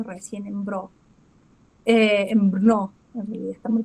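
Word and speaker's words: Brno: Esta es la casa eh que estábamos hablando recién en BR eh en Brnó, en realidad está muy pronunciado, Brnó.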